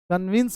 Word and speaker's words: convince: दोस्तों समझाना का अंग्रेजी होता है CONVINCE, कन्विंस मतलब समझाना होता है, इसका उच्चारण वी बोलिएगा, भी नहीं, कन्विंस, राइट ना?